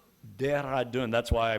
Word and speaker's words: Dehradun: student from, I'm going to pronounce it wrong, Dehradun? Dehradun. That's why I pronounced it wrong, because Tejal does it so much better.